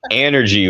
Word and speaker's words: Anergy: do you pronounce it energy with a short a yeah so uh I've